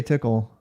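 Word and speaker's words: Tcl: I will not say tickle I will refuse to say tickle I refuse you can call a tickle if you want I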